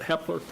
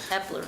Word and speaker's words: Hepler: I think I pronounced it wrong, sorry, but Hepler. Hepler, yeah.